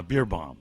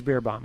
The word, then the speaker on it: Beer Bomb: Uh Beer Bomb. It is Beer Bomb. Okay. Like a beer treat.